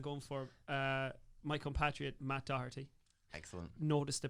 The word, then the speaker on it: Doherty: So I'm sticking with Wolves and I'm going for my compatriot Matt Doherty. Excellent. Notice the pronunciation.